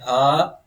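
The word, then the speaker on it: ه: Makhraj of ha is lower throat. Speak ha. Ha. Speak and from chest, okay. Ha.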